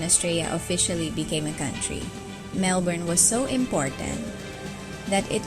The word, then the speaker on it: Melbourne: The nickname Melbs or Melby is popular among locals, but tourists often mispronounce it as Melbourne instead of Melbourne.